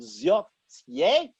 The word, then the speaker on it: Zotye: Now, there is a company called Zotye, I believe it's pronounced.